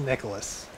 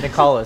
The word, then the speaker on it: Nicalis: from our ps4 now tell me how to pronounce the name of your company it's nicholas it's just nicholas this is nicholas we like